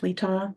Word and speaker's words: Letaw: Letaw. Last name rhymes with seesaw.